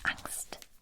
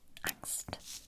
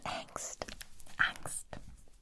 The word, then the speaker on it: Angst: with it next uh is how it's pronounced in german angst angst not angst all right this is